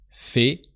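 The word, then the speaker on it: fait: automate El Fe ill fee Fe so that can seem a bit wired the first time but a i sounds e o e so look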